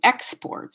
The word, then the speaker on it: export: to import new materials same with export so you could have the same like a robot export export export we need to find some new exports so that's a noun we need to export some new material that's a verb export all right so